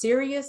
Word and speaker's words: Sirius: a Serious XM and that is pronounced serious is that correct s